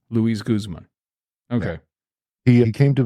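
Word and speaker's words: Luis Guzmán: That's Louis. I don't know if it's pronounced Louis or Louis. I think it's Louis Guzman. Yeah, Luis Guzman. Luis Guzman.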